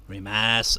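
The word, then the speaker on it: rimasu: Rimas. Again, no U pronunciation, rimas.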